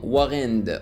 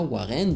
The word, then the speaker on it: WarEnd: et qui se nomme Warend, ok. Alors on peut le prononcer à la française comme ça, Warend ou bien Warend.